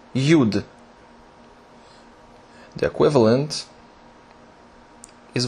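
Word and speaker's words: יוד: next is UD very easy and very small pronounced yud the equivalent is y y yud now this is a very special letter and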